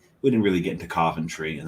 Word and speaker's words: Coventry: didn't really get into centry and that's pronouncing it properly centry not Coventry right um if you're